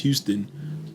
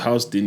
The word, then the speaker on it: Houston: north of Houston, and we thought it was pronounced Houston, but in New York, that road is pronounced Houston, you know.